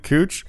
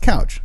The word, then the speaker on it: Couch: It's not pronounced couch. It's pronounced cooch.